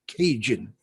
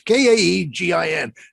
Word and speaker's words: Kagan: It's either Kagan or Cajun. No, that sounds something from Louisiana, doesn't it? Cajun. No, it's Kaegin.